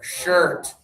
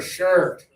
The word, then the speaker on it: shirt: Push your lips forward and open, er shirt. Shirt. Yeah, feel your lips when you do this one. Er er er, shirt.